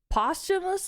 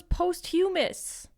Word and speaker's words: posthumously: Coral was posthumously charged is that how it's pronounced postumus L I thought it was post humus what oh guys I